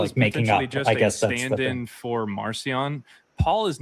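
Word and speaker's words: Marcion: And Marion his name is Marion. That's how it's pronounced.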